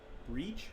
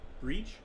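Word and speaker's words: Bríd: a famous irish saint it's pronounced with a long e so breed i think similar to the english word read yeah but the final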